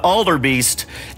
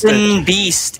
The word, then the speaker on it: Elden Beast: me going after the Alder Beast and I was trying to fuck that up, and I almost said it right, didn't I? It's Elder Beast, right? Elden Beast is the name.